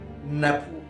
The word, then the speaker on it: نابو: الجزء الثاني علامة باللون الذهبي، علامة طبق تحته 3 خطوط رأسية وبتتنطق نابو، نون ب واو، او ان بي دبليو.